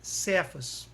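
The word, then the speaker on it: Kefas: Pedra, Kéfas no aramaico, pronuncia-se Cefas. Primeiro, concidadãos dos santos e familiares de Deus.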